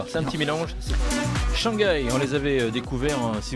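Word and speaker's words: Shanguy: Alors il y en a qui disent Shanghai, Pourquoi? parce que ça s'écrit S-H-A-N G-U-Y. Ah, Shanghai.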